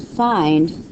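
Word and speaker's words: phi: 4/3 we're going to find cosecant secant and coent um this is another Greek letter it's pronounced fi okay so what we're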